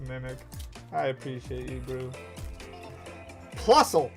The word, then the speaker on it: Plusle: Plusle. I'm always going to pronounce it correctly now. I'm not going to call it Plusly.